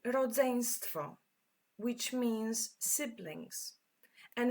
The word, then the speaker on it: rodzeństwo: So when you introduce your siblings to somebody, you will say, to jest moje rodzeństwo. And this one is quite tricky to pronounce. Try with me. Rodzeństwo.